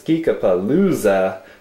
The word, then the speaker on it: Geekapalooza: It's Geekapalooza. You know, as in loser?